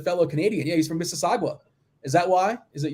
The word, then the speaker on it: Mississauga: canadian yeah he's from mississauga is that why is it your this is saga you don't pronounce the u dude you know i